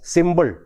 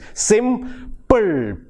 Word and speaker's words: simple: And again a word like simple. Malayali speakers tend to mispronounce the word as symbol. It is a simple solution, symbol. Actually the word is, the correct pronunciation is simple, ple, simple, simple. So these are some of